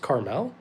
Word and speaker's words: Carmel: Carmel, like the city.